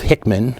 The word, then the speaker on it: Hickman: And of course, once some jackass like Sheriff Hickman, with the emphasis heavily on the first syllable there, but once some jackass like Sheriff Hickman says it, then it becomes news.